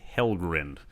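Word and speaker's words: Helgrind: learn about valgrind and helgren and it would do well to pronounce them correctly the endings are pronounced grinned and not grind where do they take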